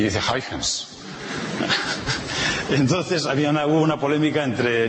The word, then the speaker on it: Huygens: Para pronunciar los nombres holandeses es muy fácil. En primera aproximación uno se imagina que son castellanos y ya está. O sea que en primera aproximación uno dice Huygens y ya en segunda ya hace